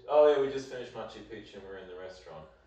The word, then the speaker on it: Machu Picchu: Machu Pichu means old penis. Machu Picchu means old mountain.